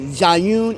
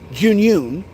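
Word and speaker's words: Zhiyun: from Jun or they some Americans call it zun it's called junun give it's junun that's how they pronounce it so yeah everyone so yeah they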